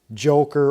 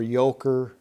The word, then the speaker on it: Joker: This fancy Wera Joker or Yoker. I'm not sure how to pronounce it the German way. I'm gonna say Yoker.